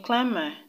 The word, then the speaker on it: climber: root word for example in climber the b is still silent because the er is not part of the root word the root word is